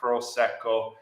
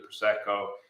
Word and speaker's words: Prosecco: I really enjoy Prosecco hopefully I'm getting the the pronunciation the r correct Prosecco uh great sparkling I